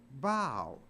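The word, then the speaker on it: bough: o you G but it's not pronounced buff it's pronounced bow so even though a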